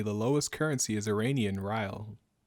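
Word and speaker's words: rial: lowest currency is iranian riley spell it iranian right rile it'd be like dial but with an r instead of a d oh really this this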